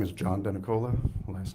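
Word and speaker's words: Denicola: My name is John Denakola. Last name is spelled David.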